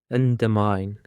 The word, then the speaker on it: undermine: Undermine. Endermine. Endermine consists of three syllables and the stress is on the last syllable.